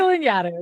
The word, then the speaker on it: Lanyadoo: And today I have Jessica Lanyadoo. Now I'm questioning myself. Okay. Yeah, you did We it. You just did a talked great about job. this. Like Jessica Lanyadoo.